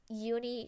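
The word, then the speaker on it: Juni: Um so the first character, her name is Uni Sharma, and Uni it's spelled with a J, but she's Swedish, so the J sound like Y's.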